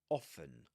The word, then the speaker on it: often: Okay, this often results this often results that you usually that t in often gets, you know, it's not pronounced. That's why she says often.